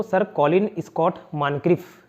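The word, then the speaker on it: Moncrieff: अब ठीक है, मॉनक्रिफ हो, इसको ओ प्रोनाउंस करते हैं मॉनक्रिफ।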